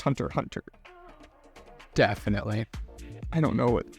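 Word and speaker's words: Hunter × Hunter: or the fact that you said Hunter x Hunter and it's pronounced Hunter Hunter definitely I don't know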